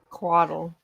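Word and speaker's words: couatl: uh kuato to attack it how do you spell that c-o-u-a-t-l it is a celestial creature what does it look like quaddle quaddle um it is a feathered flying snake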